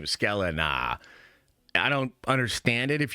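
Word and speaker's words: Sklenar: Um Brandon uh Skeleina, and thank you chat for confirming that is exactly how you pronounce his name. What a badass last name. Skeleina.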